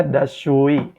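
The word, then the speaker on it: دستشویی: Toilet bahasa Persianya adalah das shui. Dibacanya dashui, dashui.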